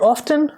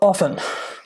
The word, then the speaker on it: often: Is it often or often? Well, the answer is both. I know that's not a very helpful answer, but here is why. Most speakers say often because of a rule about silent T's.